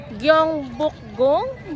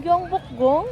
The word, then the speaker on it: Gyeongbokgung: Gong Bukgong. Gong Bukgong. Tama ba yung pronunciation ko? Ayan. Gong Bukgong Palace.